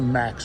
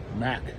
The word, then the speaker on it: Mack: That's a Max, folks. A Mack truck, I should say. Excuse my pronunciation.